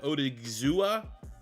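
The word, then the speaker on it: Odighizuwa: We have like Odigizua, that's how you pronounce his name, but he's like 280, so like super undersized.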